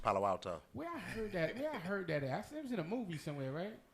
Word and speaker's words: Palo Alto: Palo Alto or Palo? That's how you say it? East Palo Alto.